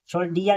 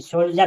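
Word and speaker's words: soldier: इ आर दिया है तो यहां सोल्जर सोल्जर सोल्जियर नहीं सोल्जर पढ़ेंगे जी आर ए एन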